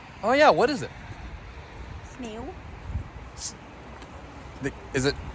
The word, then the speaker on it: sneeuw: Sneeuw. Is it pronounced like that? Sneeuw.